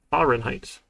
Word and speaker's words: Fahrenheit: and height h five ah fahrenheit sure english is is fun like that of course there's a silent h there all right so if